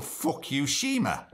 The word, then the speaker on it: Fukushima: well just read that it's that really cool Fukushima this is how you pronounce it that's how it's spelt Fukushima they